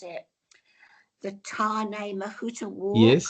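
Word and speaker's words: Tāne Mahuta: to have a look to see how you pronounce it. The Tarn Mahuta War. Yes. Perfect. Tan Mahuta.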